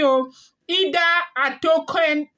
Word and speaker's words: Ida Atokun: Ida Atokun. Ida Atokun. Ida Atokun is spelled IDA ATOKUN, okay?